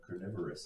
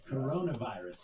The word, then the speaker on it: coronavirus: their way around state censors to cover the carnivorous outbreak in a really effective way. The what? I don't know how to pronounce it. Coronavirus.